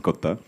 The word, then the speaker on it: Kotha: guys to tell them it is King of Kotha and not the usual Hindi pronunciation. So it's in the film Kotha, in Malayalam it's Kotha.